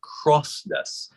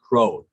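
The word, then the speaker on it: crosnes: nice pickle leaflet yes c-r-o-s-n-e-s like cross-ness but i'm told the pronunciation is crohn's a lot of people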